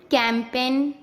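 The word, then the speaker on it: campaign: Rule, जब एन से पहले जी आता है तब हमेशा जी साइलेंट होता है।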